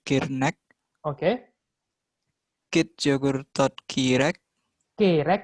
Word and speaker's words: kerek: kit yogurtot kirek, Kerek bukan kirek, kerek.